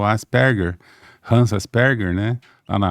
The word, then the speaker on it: Asperger: de Asperger, que aqui mas o certo é Asperger, a pronúncia, depois eu aprendi.